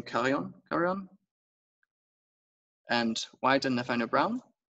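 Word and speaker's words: Carrión: to pronounce this name, Carrion. And White and Nathaniel Brown. I think there's an accent. Carrion. Carrion, okay. Yeah, it's Spanish actually, Mexican.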